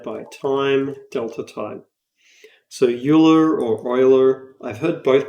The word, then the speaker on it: Euler: rotation speed multiplied by time delta time so euler or euler i've heard both pronunciations yule is the main one i've heard but i